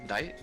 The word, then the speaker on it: 大: The dai here is Yes. pronounced dai seikai.